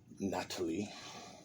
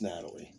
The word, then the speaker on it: Natali: Natalie, I don't think it's Natalie. It's kind of spelled like that, but it's like spelled foreign like that. So it's Natali, Natalie.